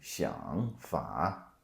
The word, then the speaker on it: 想法: But you don't say 想法. Here's how you say it. 想法想法想法.